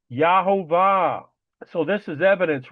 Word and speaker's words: Yahovah: Again, there's no J sound in the Hebrew language. Never was, never will be. Yahovah.